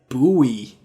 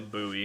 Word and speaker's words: buoy: think it's it it's like bowie right like i never know how to pronounce that word but boy but like like the thing in the water for boats is that's a buoy buoy yeah okay so i i